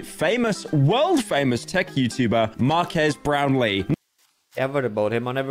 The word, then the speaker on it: Marques Brownlee: Not to be confused with how Will Smith pronounced him in YouTube Rewind, Marques Brownlee. Yeah, I definitely did not pronounce it like that. And Marques Brownlee.